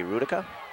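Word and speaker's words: Hrudka: gain for ray smith h-r-u-d-k-a gonna be rudica good job you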